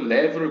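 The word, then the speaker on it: לב: 그래서 즉 처음과 마지막이 라메드와 베트, 즉 together these two letters also spell out lev. 이 두 개의 단어가 맨 앞과 맨 뒤에 있는 히브리어 알파벳이 합쳐져서 lev를 구성한다 레브로 발음된다.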